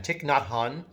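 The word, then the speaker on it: Thich Nhat Hanh: Buddha living Christ it's by a man named tick not hon tick is spelled th I see not Nhat Hanh Haan tick not Hanh tick is a Vietnamese monk who lives now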